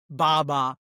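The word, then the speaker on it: バーバー: So there something in Japanese baba which is it sounds racist but it's not. It's just the Japanese pronunciation of the word barber.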